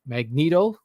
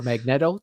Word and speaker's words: Magneto: Ian M Mullen mag Magneto or magnetto depending on how you want to say it the actor who plays